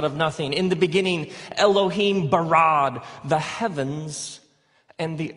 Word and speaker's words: Elohim: it would look something like this and it's pronounced Elohim let me hear you say Elohim in the beginning Elohim created the heavens and the earth now the